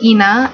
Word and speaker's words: Ina: I think there's an alternative pronunciation of Ina, but I think that sounds stupid. I like Ina a lot better.